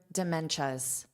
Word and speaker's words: dementia: So notice this is pronounced as cha, cha.